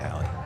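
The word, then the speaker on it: Hali: central picture hie was it hie or Haley hiy hiy okay yeah hie yeah h a l i so it's it there's sometimes there's some different pronunciations and you know the as a PA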